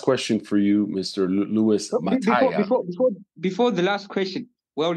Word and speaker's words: Mataya: Luis Mataya. Before the last question, well done. That you pronounced it perfectly.